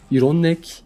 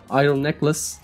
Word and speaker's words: Iron Necklace: Yanlış telaffuzlar şu şekilde: Iron Belt, Iron Bow, Iron Neck, Iron Impact falan. Doğrusu arkadaşlar Iron Belt, Iron Bow, Iron Necklace, Iron Impact.